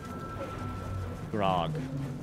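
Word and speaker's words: Gragh: Also, Grog is spelled G-R-A-G-H, the way my character is spelled. G-R-A-G-H. Grog.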